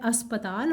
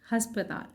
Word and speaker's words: اسپتال: تو اصل تلفظ ہے اسپتال اور ہم لوگ بولتے ہیں ہسپتال.